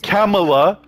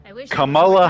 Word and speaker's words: Kamala: it's freaking Cala Harris it's not Camala Kamala Harris the name Kamala is Indian okay it's a brown